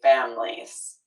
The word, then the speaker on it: families: You know, we don't always say families. We often will drop that middle syllable still when it's plural and say families.